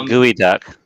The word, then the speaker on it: geoduck: What's a gooey duck?